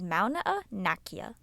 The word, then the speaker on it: Mauna Kea: Well, Abby, the correct Hawaiian pronunciation is Mauna, and I still have to get to Dole.